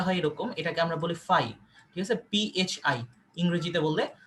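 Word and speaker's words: φ: এটাকে আমরা বলি, দেখো সিম্বলটা হয় এরকম, এটাকে আমরা বলি ফাই, ঠিক আছে, PHI ইংরেজিতে বললে।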